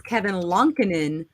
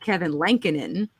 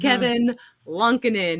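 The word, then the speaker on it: Kevin Lankinen: name which is how I learned that it's Kevin lunkenen not Kevin lankanen because it is him saying his own damn name and it's Kevin lunkenen and I was like okay I'm sorry I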